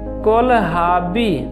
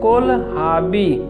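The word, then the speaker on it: kohlrabi: cluster beans cluster beans कोल हाबी देखिए दोस्तों इसमें आ साइलेंट है कोल हाबी फेनल डिल फेनल या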